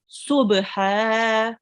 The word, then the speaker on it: صبحا: So this is a sword. If it would carry a dot, then it will be a dod. So it's subha.